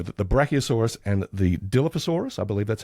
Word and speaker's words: Dilophosaurus: Did you know that the Brachiosaurus and the Dilophosaurus, I believe that's how you pronounce it? Dilophosaurus, yeah.